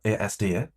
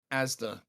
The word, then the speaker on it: Asda: Cuz in last night's video, he pronounced Asda ADA.